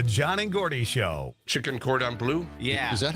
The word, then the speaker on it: cordon bleu: They said, cordon bleu. Well, cordon bleu, please. It's like the first time you've gone to the restaurant. Could I have some cordon bleu?